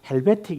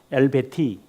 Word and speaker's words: 엘베티카: 근데 헬베틱 이렇게 하면 안 되거든요. 본래 발음은 이제 여기 있는 그대로 엘베티 이렇게 해야 되는데 다 영어명으로 다 바꿔가지고 헬베틱 신앙 고백서.